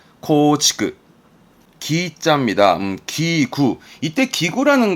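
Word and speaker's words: 構築: 발음은 코치크.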